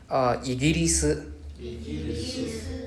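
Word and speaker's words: イギリス: Igirisu. Remember, there's no R sound in Japanese. It's a L sound.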